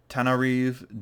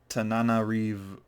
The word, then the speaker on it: Tananarive: Tananarive Tananarive Do. Yeah, Tananarive Do. Okay, there we go. I missed a na in there.